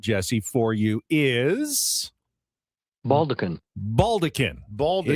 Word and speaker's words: baldaquin: Baldaquin. It looks like maybe baldachin, but it's pronounced baldaquin.